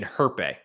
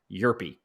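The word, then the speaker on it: Hjerpe: name wrong all spring i've been saying herpe i was trying way too hard it's cooper yerpy but cooper european lefty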